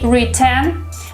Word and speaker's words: written: Glottal T is an interesting thing that native speakers do, but if you say written, this is not incorrect. You're not gonna have anyone misunderstand you if you pronounce the sound T.